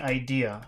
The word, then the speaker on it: idea: So the idea is to now that word idea, how many syllables does it have? I idea is it two? idea. Three. It has three syllables.